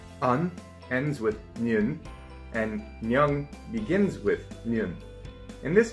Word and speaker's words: 녕: So when you put it together, it becomes nyung. It sounds a lot like the word young, just with an N at the front of it. So it gets pronounced nyung. Now let's put these two together.